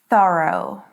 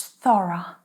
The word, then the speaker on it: thorough: How to pronounce this one? It is thorough. Thorough. Or in British English, thorough.